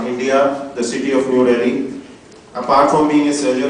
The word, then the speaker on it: Delhi: It is spelled as Delhi and pronounced as Delhi in Western world, but we call it Delhi.